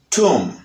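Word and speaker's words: tomb: Et nous gagnons le mot tum, tum, tum, tum. Tum, B a pas prononcé, la B no suena.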